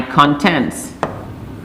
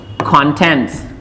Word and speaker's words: content: this is sounded and this is pronounced as content and this one is pronounced as content this one content is adjective and this one is noun and this is how